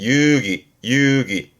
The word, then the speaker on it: 遊戯: 놀류 놀 요게 유희 발음은 유기 유기 논류의 놀니까 말 그대로 장난으로 노는 가지고 놓는 거죠.